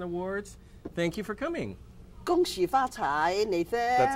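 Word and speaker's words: 恭喜发财: Gong Xi Fa Cai, Nathan.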